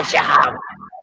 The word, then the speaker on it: Shahab: So Shahab. That's the proper Shahab.